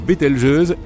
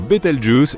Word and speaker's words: Betelgeuse: supernova pour le moment quant à la manière de prononcer correctement beteljuse tu peux le faire comme bon te semble tu peux même dire betle juice si tu en as envie la supernova 1997a a